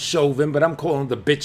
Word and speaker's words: Chauvin: villain it's based on Derek I know it's pronounced Chauvin but I'm calling the Siobhan it's based on Derek Siobhan and how like callously and just no emotion